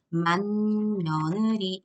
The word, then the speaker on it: 맏며느리: 맏며느리는 만며느리 이렇게 발음이 됩니다. 그러면 받침에 있었던 디귿이 뒤에 나오는 미음 때문에 이음으로 바뀌게 된 거니까 비음화 현상이죠.